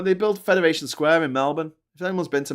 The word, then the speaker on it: Melbourne: Oh, they build Federation Square in Melbourne. If anyone's been to Melbourne and knows how to pronounce it right, it's Melbourne, not Melbourne.